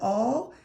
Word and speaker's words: all: And then remember we worked on the word all. It's a little tricky because if you look at it, it looks like it says owl, but all is spelled A-L-L.